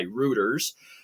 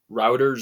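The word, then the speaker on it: Reuters: to be true by rooters um or maybe I'm not pronouncing them right but I'm almost sure it's routers or rooters it's rooters are rs it's rter um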